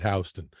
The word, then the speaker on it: Houston: It's spelled Houston, and the locals call it Houston.